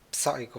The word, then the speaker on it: Psycho: Dottore, please, non pronunci la P di Psycho Mantis. Psycho, forse c'avevo il microfono troppo vicino. Psycho Mantis.